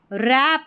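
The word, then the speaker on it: wrap: वो stabbed stabbed stabbed stop रोकना stopped stopped रैप रैप का मतलब होता है लपेटना इसको डब्ल्यू साइलेंट है इसमें रैप्ड रैप्ड फिर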